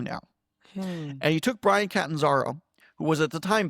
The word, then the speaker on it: Catanzaro: Yeah, and it must have been quite a revelation for, you said Brian, I can't pronounce his last name. Catanzaro.